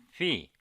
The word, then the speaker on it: phi: letter v not Phi I pronounce this Greek symbol fee please remember the names